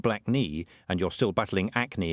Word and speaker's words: Blakey: Because when your given name is Percy Blakey, pronounced black knee, and you're still battling